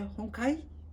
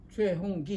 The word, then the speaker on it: 최홍기: 왓 your name 최홍기 홍카이 홍카이 그들의 발음이에요 그렇게 부르면 제가 귀에 거슬려요 그죠 최홍 최홍기 이렇게 불러 줘야 되는데 최홍기 그게 예수님이 예수님 당시에